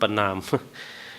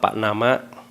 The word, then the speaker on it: ปณาม: ปณาม เนี่ย ก็ เลย บอก เข ไป ว่า ต้อง อ่าน ว่า ป นามะ อ่าน แบบ ไทย เ ก็ อ่าน แบบ ไทย ประนาม ประนาม ก็ นะ ไม่